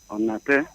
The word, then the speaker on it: Onate: Onate. Onate is my name. Onate is spelled O-N-A-T-E.